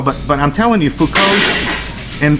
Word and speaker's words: Foucault: but I'm telling you Foucault and Foucault is spelled fo you see a ult I think it rightly to cease but you don't pronounce the T because it's French much to his right